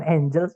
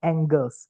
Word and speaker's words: angles: at subjectnya adalah Angles ini bukan Angels ya teman-teman bacanya Angles karena l dulu Nah itu artinya sudut